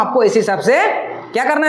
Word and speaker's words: sec: है टैन, टैन के नीचे रहेगा कॉट, SEC सेक है। प्रोनाउंसिएशन में गलती मत कर देना, यहाँ पे मेरा बात समझ में आ रहा है? सेक, और यहाँ पे आ जाएगा कॉसेक, ठीक है।